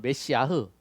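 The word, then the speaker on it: מָשִׁיחַ: 그런데 히브리어는 메시아흐, 원래 정확한 발음은 메시아고 그 다음에 헬라어로는 그리스도예요.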